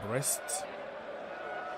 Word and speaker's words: Brest: very soon PSG Against Breast not the breast in English we have our own breasty in French who means not what you think so yeah pronunciation is the same so breast is a